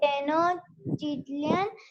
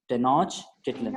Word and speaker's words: Tenochtitlan: Tenochtitlan, but they attacked Tenoch. Say like this. Say like this. Wait. First, correct the pronunciation. Tenochtitlan.